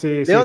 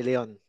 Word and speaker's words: Léon: Je pense que comme Léon en espagnol, mais tu sais, en français, Léon.